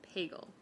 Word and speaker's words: Pagel: City Manager's Office, Pagel. It sounds like bagel, but with a P.